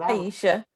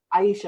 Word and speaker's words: Aisha: Is it Asia or Aisha? Because Aisha. Aisha, okay, she spells her name the same way.